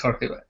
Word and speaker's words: Jorge: for people from here, it's very difficult to pronounce Jorge. Jorge is difficult. Okay. It's difficult. Then when I speak in English, sometimes I said George, but no, I prefer Jorge.